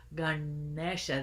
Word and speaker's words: Ganesha: Ganesha let's practice that Ganesha Ganesha good good Ganesha the tongue curls back on the engine and